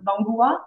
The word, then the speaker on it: Bangoua: êtes au marché de Bangoua. Est-ce que je le prononce correctement? Bangoua? Oui, Bangwa, c'est mon village.